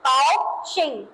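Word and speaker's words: 高兴: पास काशिंग ठीक है कााउशिंग जी का साउंड है जी ए ओ क्या बन जाएगा काऊ क्या बन जाएगा काऊ एक्स आई एन जी ये सेम नेम रहेगा। इंग्लिश वाले मैनर पे हम इसको प्रोनाउंस करेंगे।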